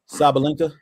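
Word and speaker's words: Sabalenka: Sabalinka.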